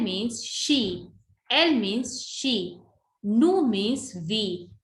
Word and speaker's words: nous: Nous means we. We never pronounce S, so nous.